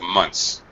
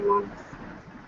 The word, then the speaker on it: months: A couple of months. We don't really fully pronounce the TH sound. Okay, months.